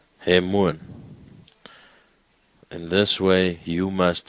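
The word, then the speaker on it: ἡμῶν: And then there is a mi, there's an omega, and then there's a nun. So now try and pronounce that one. He. Hemuan. Do you agree? Ha. He. M. Omega N. Hemuan.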